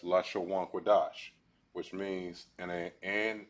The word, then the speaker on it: Lashawan Qadash: up in the board this is pronounced as la sha one chord all right all together it is pronounced as la shawwan quadash which means in a